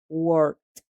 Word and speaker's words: worked: En este caso, esa ed también va a sonar como una t. Worked, worked.